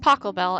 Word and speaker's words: Pachelbel: of Pachelbel's chamber music it's pronounced Pachelbel and it must be